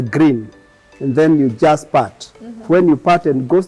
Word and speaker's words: Putt: this awesome name PT it is pronounced as part yeah not put mhm uh a man